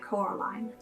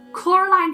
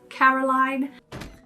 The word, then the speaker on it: Coraline: perfect mother for coraline coraline hates it when you mispronounce her name while film caroline only gets mildly annoyed when others pronounce her name caroline that's vedanya got a